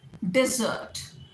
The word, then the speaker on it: desert: Next is, हाँ एक ये बहुत कॉमन सा है, डेजर्ट, डिजर्ट। तो डेजर्ट आपका रेगिस्तान, DESERT, डेजर्ट। और DESSERT, इसमें आप सिलेबल किस पे स्ट्रेस करेंगे? डी, डिजर्ट, डिजर्ट बोलेगा, डिजर्ट, राइट? सो डेजर्ट, डिजर्ट।